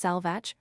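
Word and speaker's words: Sealbhach: chattels, is the origin of Sealbhatch, pronounced Selvach, owned by 2 kings of the Scots, and of the feminine Sealbhaflaith, lady of possessions, now become Sally.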